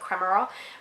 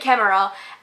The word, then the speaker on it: Kemmerer: I always mispronounce her last name, it's like Kremerer. Bridget Kemmerer, and this is a young adult.